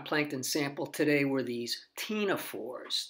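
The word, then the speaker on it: ctenophores: sample today were these Tina fours the C is silent it's not pronounced their common name is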